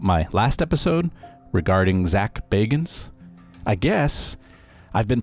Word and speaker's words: Bagans: I do stand corrected it's Zach Bagans not Baggins also keep in mind